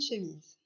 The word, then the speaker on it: chemise: Une chemise. On entend bien Z dans chemise, qui s'écrira avec la lettre S, comme dans valise.